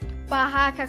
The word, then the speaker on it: barraca: é mais fraca e já as palavras barraca com céu e carro possuem dois ex para que o som entre as vogais fique forte e é muito bem